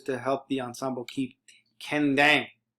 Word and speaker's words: kendang: The kendang, sometimes it's pronounced kembang, has the function of